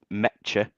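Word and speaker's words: Nmecha: me, Borne out and Meta, as I learned, that's how you say his name today. Don't say the N, it's silent.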